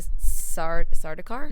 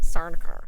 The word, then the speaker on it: Sardaukar: And they make a point to say that, like, when I'm gonna pronounce this wrong, the Sardaukar? Mm-hmm. Cute. It just sounds like I'm choking when I say that. It does. Sardaukar.